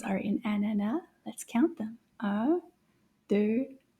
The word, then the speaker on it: ananas: They both have the A sound at the end because the S is silent in this word. It doesn't make a sound.